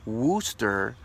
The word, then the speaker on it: Worcester: shoshana sauce was invented in 1830s in Worchester pronounced Worcester England so I wonder if it's called Worcester